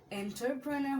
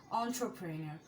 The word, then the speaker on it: entrepreneur: কিন্তু আমরা উদ্যোক্তা হতে চাই, তার মানে তারা এন্টারপ্রেনার হতে চায়। মোস্ট অফ দ্য টাইম এটাই বলে এন্টারপ্রেনার অর এন্ট্রপ্রেনিয়র, কিন্তু এটার উচ্চারণটা entrepreneur.